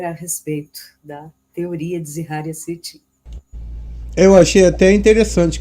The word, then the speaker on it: Zecharia: Mas eu costumo usar, como eu detesto aquela pronúncia americana do History Channel, né? Que é Zecharia. Eu acho demais. Palavrão, né? Então eu prefiro usar a forma como a família dele chama. Zeharia. Zeharia. Zeharia, porque ele é russo.